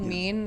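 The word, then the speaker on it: Mien: there's a website too it's called mean it's spelled m-i-e-n yeah yeah I know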